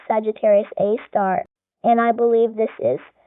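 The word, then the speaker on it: Sagittarius A*: And I believe this is scientists call it Sagittarius A, pronounced Sagittarius A star.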